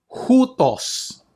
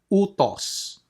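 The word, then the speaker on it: οὗτος: Hutos. Okay, take note of the rough breathing mark. So that is hutos, not utos.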